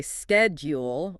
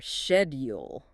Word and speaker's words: schedule: In American English, it is pronounced with a hard sked sound at the beginning.